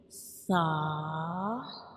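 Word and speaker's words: ث: And when we pronounce sa, you make sure you don't read it with whistle sound, because this is a soft letter and we read it softly, like sa, sa.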